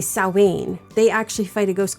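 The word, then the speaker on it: Samhain: And that I didn't know then but now bothers the be Jesus out of me because it's sain or however there's different pronunciations but it is not Sam Hayne.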